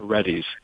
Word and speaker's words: Reddy's: pronounced? Reddy, yeah. Reddy's.